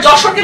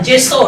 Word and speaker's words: যশোর: নতুন নাম সি ইউ আগে আমরা যশোরকে লিখতাম এভাবে উচ্চারণ জেসর এভাবে লিখতাম আমরা কি বাংলায় কি জেসর বলি না আমরা বলি যশোর তাই না যশোর এজন্য আমরা নামের